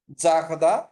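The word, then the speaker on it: garder: দেখেন উচ্চারণটা করতেছি, আর এর উচ্চারণটা নিচ্ছি গ, জাখ, ডি আই এন এর উচ্চারণ নিচ্ছি হচ্ছে দা, ঠিক আছে, জাখদা।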